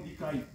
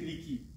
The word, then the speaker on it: Liki: Comment tu peux appeler mon nom Likaï? C'est-à-dire, tu changes. Ce n'est pas bien, il faut prononcer Liki.